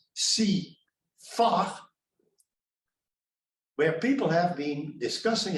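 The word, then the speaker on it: CIFAR: um an intellectual community they call shiva and you have to pronounce that as see far where people have been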